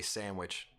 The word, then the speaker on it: sandwich: I like if I'm just saying it in casual conversation, I feel like I say sandwich. I don't necessarily emphasize the D.